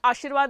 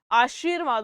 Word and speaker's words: आशीर्वाद: ठीक है, आशीर्वाद, आशीर्वाद, वो आशीर्वाद नहीं होता, आशीर्वाद होता है।